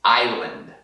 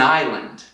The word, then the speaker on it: island: E aí uma palavra que eu uso com frequência, I hear it often said incorrectly, it is island. So this S, we just don't pronounce it.